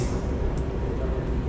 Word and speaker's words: SQL: You know, those computer acronyms are not always pronounced the way they're written.